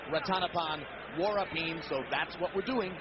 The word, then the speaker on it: Ratanapol Vorapin: He sings Thai country, and incidentally, yes, it looks like Ratanapol Vorapin, but we were told by those who speak Thai, and amazingly enough, we don't, that it should be pronounced Ratanapol Vorapin, so that's what we're doing, following the instruction we were given.